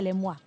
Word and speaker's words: Lemoine: en el móvil conigo dijo que es lema pero que en realidad Si la gente no se escribe como se pronuncia Entonces ella prefiere que se diga lemoine Porque es más fácil encontrarla en redes cuando escribís lemoine pero en realidad se pronuncia lema es una persona que